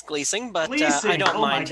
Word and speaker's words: Glusing: rpgs for samurai sheepdog his name is gleusing am i pronouncing that right did i pronounce it properly uh well technically it's gleasing but yeah i don't mind everybody does it